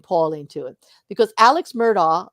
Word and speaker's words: Murdaugh: when we bring Paul into it because Alex murdaugh like I know the name I say it